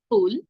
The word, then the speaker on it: ফুল: ফাগুন তো এগুলো হলো ফুল উচ্চারণ সঠিক হবে ফুল ফাগুন ফানুস এভাবে ফুল এখন থেকে বলা যাবে না অনেকে দেখবেন প্রথম প্রথম